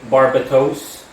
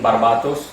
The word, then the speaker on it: Barbatos: English you can say barbatos but I prefer like the Latin pronunciation barbatos that's how I'm going to pronounce it uh spell b-a-r-b-a-t-o-s as